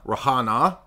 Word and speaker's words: Rihanna: from umbrella that's Rihanna rahana is the correct Caribbean way to pronounce it without appropriating and then we